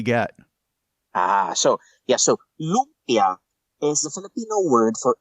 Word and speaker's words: lumpia: Um, you mentioned you mentioned the uh spring rolls and those are um is do I have the pronunciation of this right? Uh, Lubia. Lubia.